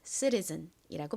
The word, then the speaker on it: citizen: 미국식 원어 발음으로는 여기서 T를 좀 꼬아서 리을처럼 발음하는 경향이 있다고 말씀드렸죠. 그래서 미국식 발음으로는 citizen이라고 발음합니다.